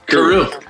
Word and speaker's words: Caru: Caru.